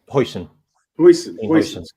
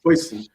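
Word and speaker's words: Huijsen: Is Hassan or Hussein? Hoyson. Make sure I say it right. Hoyson.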